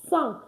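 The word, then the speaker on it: cinq: You have c i n q. It's sank. Sank. Sank not sink. Why? Because the i n is pronounced a in French.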